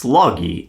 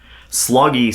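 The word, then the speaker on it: Sloggie: this Captain uh sha I believe it's pronounced sloggy s g g i e Sean sloggy s o g g i e s SL o gg i e yeah I'm gonna go with that unless you correct me no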